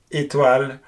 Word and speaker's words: étoile: And the thing to remember here is that you have to close your mouth as much as you can to pronounce this E accent aigu. Like in French again, étoile or mérite.